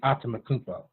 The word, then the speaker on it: Antetokounmpo: It's supposed to be Antetokounmpo.